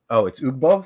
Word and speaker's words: Ugbo: It's Ugbo. Thanks, Tedium. I think I said Ugbo.